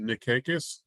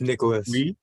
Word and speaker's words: Nicholas: mispronounce your first name is it Nick cakis it's Nicholas Nicholas I apologize for Mr